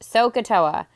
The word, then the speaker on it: SOHCAHTOA: if you look at this word and just pronounced sohcahtoa is probably the most important acronym you'll learn